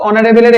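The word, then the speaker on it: honourable: ইট ওয়াজডশ অনবল gesture তাহলে এখানে তো অনারেবলের এইচ এর উচ্চারণটা হচ্ছে না সাইলেন্ট হয়ে গেছে তাহলে আমরা এখানে এন বসাব ক্লাসটা কি ভালো লাগছে বড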